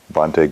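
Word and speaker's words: Bhante: b-h-a-n-t-e and then Guna ratana is g-u-n-e r-a-t-a-n-a vonte Guna retana Bonte means teacher in Sri Lankan it's like ajan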